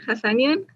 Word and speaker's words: Hasanian: of this new special guest he is jasin hassanian yes that's how you pronounce it hassanian yeah yeah okay that's right who is the